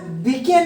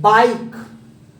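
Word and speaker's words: bike: तो यह बीके नहीं है साथियों। बाइक, आई के बाद कॉन्सोनेंट फिर ई, यानी आई को हम आई पढ़ेंगे।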